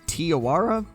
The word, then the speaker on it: Te Awaroa: of this map uh i think it's tiawara i i think that's how it's pronounced but that is the